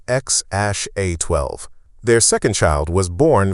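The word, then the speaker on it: X Æ A-12: Musk has said the intended pronunciation is X Ash A12.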